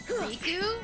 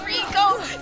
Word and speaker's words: Riku: Riku? No, it's Rico. Oh my god, it's pronounced Rico!